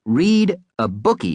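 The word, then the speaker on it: Read-a-Bookie: cheer us all up camp reab bookie pronounced read a bookie by the way was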